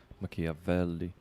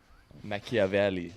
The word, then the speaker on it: Machiavelli: Machiavelli. Yeah, you have to been pronounce it Italian. I'm not gonna attempt it. I don't want to botch it. So Do it. It's a Yuri Machiavelli. Machiavelli.